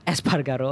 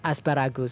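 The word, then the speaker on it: Espargaró: point behind francisco banya alice espargato uh espargato okay not asparagus sorry i'm so sorry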